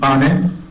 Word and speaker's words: Neupane: Chair, my last name is pronounced Pane.